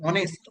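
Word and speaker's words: honest: এটার উচ্চারণটা হবে অনেস্ট। অনেস্ট মানে সৎ। এইচ এর উচ্চারণটা অ হবে। হ না।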